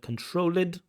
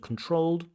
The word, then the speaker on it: controlled: Game will be controlled, so we get that controlled instead of controlled.